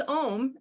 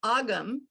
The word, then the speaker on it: Ogham: names because it's irish like even om it's om i i was saying ogham okay so because i